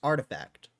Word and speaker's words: RTFKT: the shoe company, acquired RTFKT, pronounced artifact. Although you can say it differently if you like for an unknown but presumably astronomical amount of money.